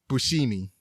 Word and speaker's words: Buscemi: Nobody knows how to pronounce his name properly, but I believe it's pronounced Buscemi. Okay.